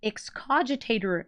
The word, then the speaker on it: Excogitate: It's Excogitate Sphinx.